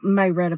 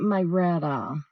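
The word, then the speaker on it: Marietta: day here in meretta that's how the old maretta people say it meretta that's how you say it in the South meretta but it's actually maretta Geor M yes it's 33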